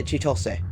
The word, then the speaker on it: Chitose: Is it Chitose? Yeah, Chitose. Chitose. That's how you say it in Japanese.